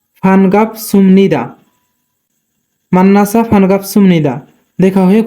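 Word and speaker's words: 반갑습니다: কিন্তু এখানে বিউ বাচ্চিমের পরে নিউন থাকার কারণে বিউ উচ্চারণ মিয়মের মতো হবে, তাই উচ্চারণ হবে সুম। ফানগাপ সুমনিদা, মান্নাসা ফানগাপ সুমনিদা দেখা হয়ে খুশি হলাম।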